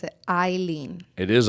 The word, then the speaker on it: Eillen: You pronounce it Eillen. It is Eillen. It is Eillen.